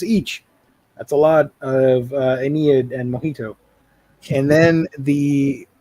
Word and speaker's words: Ennead: So an Ennead is how I just had my computer yell at me. Is how it's pronounced.